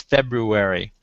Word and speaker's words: February: course that's absolutely wrong the word is February febru February February and it's it is hard to say it's very hard to say and as a result newscasters and people across the continent and across the world all say it wrong and it's like